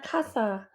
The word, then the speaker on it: casa: at the party La Casa Abuelo says in her Merry voice pronouncing Casa with a z instead of an S gracios I say and